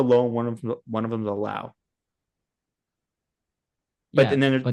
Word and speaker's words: Lowe: But And then anyway, so then I think Brandon's last name is pronounced Lau, and the yes. other two are Low. even though they're spelled the same.